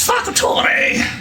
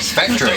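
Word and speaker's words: Facktore: my my name is Fator what Factory Fator Factory no Fator yes that's that's the name I my my my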